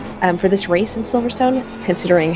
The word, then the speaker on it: Silverstone: so we We spelled Silverstone uh it's s-i-l-v-e-r-s-t-u-n Silverstone um but it's it's pronounced Silverstone and usually by any other actually intellectual part